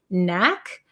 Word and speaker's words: knack: spelling of this one Knack um Knack is it has a k but we don't pronounce it so it's the same as the word no or knee there's a silent k